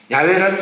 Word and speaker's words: 야훼: A 그 다음에 E가 들어가서 야훼가 됐다는 것이에요. 그래서 정확히 말하면 이것은 신비의 언어예요. 그러니까 이 뜻이 무엇인가는 누구도 몰라. 야훼라는 이름 자체가 발음이 맞는지도 모르고 그것이 하나님의 이름인지도 사실은 정직하게 말하면 몰라요.